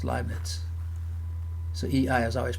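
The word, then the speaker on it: Leibniz: inference rule is called liet now this is the correct German pronunciation it's not libnet it's lits so EI is always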